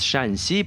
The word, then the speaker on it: Shaanxi: The romanized name looks very similar to the Shanxi Province we just passed, but in Chinese it is pronounced with a different tone and is written with a different character.